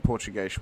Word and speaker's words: Portuguese: Yeah, English pronunciation is Portuguese, but the actual Portuguese pronunciation is Portuguese.